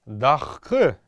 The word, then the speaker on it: дахх: Поэтому дахк, будем говорить мы его сейчас в современном калмыцком, но записывать как дахх обязательно.